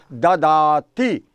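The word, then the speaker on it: ददाति: और दा का जब संस्कृत भाषा में हम पाली भाषा में प्लुरलाइजिंग करते हैं तो इसका प्रोनाउंसिएशन होता है ददाती।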